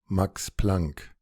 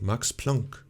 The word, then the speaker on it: Max Planck: range of scientific directions probably mispronouncing that name though max planck oh no max plunk max plunk so this is uh